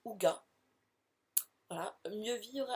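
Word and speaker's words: hygge: Autre livre qui a rejoint ma palle, alors rien à voir, enfin vous allez me dire, il s'agit de le livre du Haïgi, prononcé Ouga.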